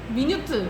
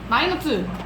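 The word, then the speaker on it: minute: 미니트를 돈이라는 단어는 미니트라고 있지만 미너트 이거는 마이너트 어 마이너트 마이너트 아네 넣어 줄게요. 상세한이란 뜻으로 마이 마이라고 읽는 겁니다. 마이 미세한이라는 뜻입니다. 요거 조심하셔야 돼요.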